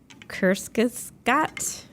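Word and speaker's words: Kurzgesagt: I don't know how to say this word Kus Scot oh right here you'd say it kest K Gat K G is that German that here you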